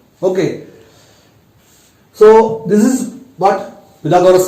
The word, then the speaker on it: Pythagoras: It is how we have to pronounce Pythagoras, not Pythagoras.